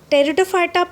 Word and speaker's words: Pteridophyta: Now see the Pteridophyta. In Pteridophyta, P is silent there in the spelling. Pteridophyta possess true root and leaves, means they have a conducting tissues like xylems and phloem.